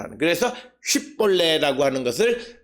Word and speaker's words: 쉿볼레: 즉 오늘 주시는 본문의 에브라임 사람들은 SH 즉 쉬라고 하는 발음을 하지 못하는 거예요. 쉰 발음을 못하고 그것을 사맥 S 발음으로 하는 거예요. SH 발음을 S 발음으로 하는 거예요. 그래서 쉿볼레라고 하는 것을 발음하지 못하고